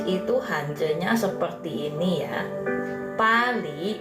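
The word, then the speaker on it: 巴黎: Pali bacanya ya.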